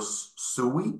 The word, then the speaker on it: Sui: our test net on uh sui Network or sui uh it's pronounced sweet written soie um and um so